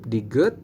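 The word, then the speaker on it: 디귿: DT DT ini adalah Diget teman-teman Diget baik nah Diget ini sama dengan giok teman-teman apabila dia di awal dan di tengah maka ee bunyinya itu akan D teman-teman ya bunyinya D seperti ini contoh ya ini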